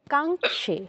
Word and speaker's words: কাঙ্খে: ভুল হলে বলে দিচ্ছি না কাঙ্ কাঙ্ নয় কাঙ্খে ক টা ক এর উচ্চারণটা আসছে না স আর ও হচ্ছে কাঙ্খ কাঙ্খে বলো কাঙ্খে হ্যাঁ এবার ঠিক আছে এবার